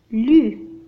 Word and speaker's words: plus: plus هنا le S لا ينطق.